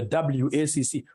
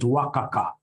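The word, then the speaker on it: WACC: companies you'll get somebody instead of pronouncing this thing professionally as wac you get somebody calling it worka Waka no no no no that's very unprofessional it's supposed to be wac it's supposed to be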